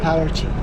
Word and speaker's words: Paraty: How do you pronounce it? Paraty. Paraty is the name of it.